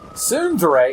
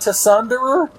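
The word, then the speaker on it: tsundere: to pronounce that sunnd Sundre it's not tunder no she's not like that's TSU is sort of like a su su su like suasa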